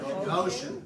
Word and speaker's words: Goshen: in the land of, starts with a G, rhymes with ocean. Goshen, right.